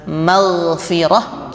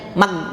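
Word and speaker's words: مغفرة: Jadi kadang maghfirah kita bacanya mag, ya.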